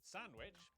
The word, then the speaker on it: Sandwich: the Cester in Cirencester, the W in Sandwich, and the sound in this is disgusting.